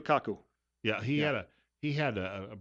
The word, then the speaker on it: Kaku: it may have been Michio Keiko, who is that how I pronounce that, or Keiko? Michio Kaku.